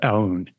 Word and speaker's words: Aoun: They just appoint or elect General Joseph Aoun. Am I saying that correctly? That's correct. Perfect pronunciation, Ryan.